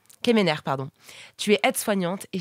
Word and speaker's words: Quemener: Kemener, est-ce que je prononce bien ton nom de famille ? Kemener, pardon.